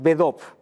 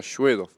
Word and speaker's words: Shvedov: Svedov, a ver, es solo con S, es Bedov. claro, Svedov. Ujú. Eso es la pronunciación en español, porque después en ruso se pronuncia Shvedov.